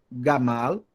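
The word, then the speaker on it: גמל: duas palavras olhei para vocês primeira palavra grammar gamal tenho aqui uma legal duas latas de sílabas duas sílabas ga mau significa em hebraico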